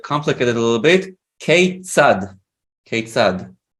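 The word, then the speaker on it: כיצד: Keitzad. Keitzad. It's like how. It's that. Keitzad. So KEI is pronounced K. K-sad. Yes. like- yeah. And And this TZ, FO. yeah, and this TZ is this letter tzadik.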